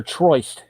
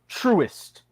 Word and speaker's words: Truist: Is it Truist or Troist? Truist. Pronounced phonetically, apparently.